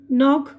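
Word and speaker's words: knock: अब यहाँ पर देखिए के की आवाज़ साइलेंट है। अब ये देखिए नॉक खटखटाना, नाइफ चाकू, नॉट गिरा यानी गिडा बोलते हैं ना।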